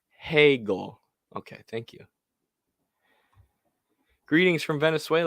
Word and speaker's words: Hegel: I think it's pronounced Hegel.